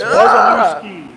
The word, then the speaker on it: Wazalewski: to RegoFix, how do I say your last name? Wazalewski. Nope. Just like it's spelled. Wazalewski. How was that? Yes, Wazalewski.